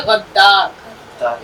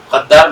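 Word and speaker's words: غدار: हम बहुत बोलते हैं, गद्दार कोई लफ्ज नहीं होता, लफ्ज होता है गद्दार। इसका उच्चारण कौन सही करेगा? गद्दार मैम। गद्दार, बिल्कुल ठीक। गद्दार। हाँ, तो गैन दाल जबर गद, इस पे तशदीद भी है, दाल अलिफ जबर दार रे साकिन, गद्दार।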